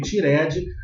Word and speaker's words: tired: E a palavra cansado se escreve tired, mas a pronúncia é assim, ó.